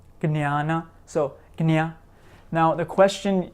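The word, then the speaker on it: ज्ञान: So we have, for example, the word jnana, jnana, jnana, which means knowledge, right? Jnana.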